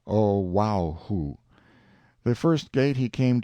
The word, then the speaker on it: Oahu: him after this island oahu pronounced oh wow the first gate he